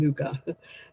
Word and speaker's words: nougat: No, it was always called nugget when I was a kid. before anybody went continental and discovered it was called nougat. Just to think we've been pronouncing it wrong all these years.